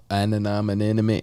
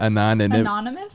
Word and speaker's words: anonymity: There is anonymity. How do you say that? Anonymous?